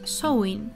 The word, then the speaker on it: Samhain: Samhain, pronounced in Irish Samhain, was a festival celebrated by the people of